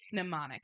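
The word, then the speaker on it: mnemonic: Well, they you all were pneummonic. And that's spelled M N E M O N I C. M N E M O N I C. See, I was going to spell it like pneumonia.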